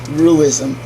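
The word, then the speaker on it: Ruism: representing complementary positions Confucianism roo ism rui sm emphasizes human will and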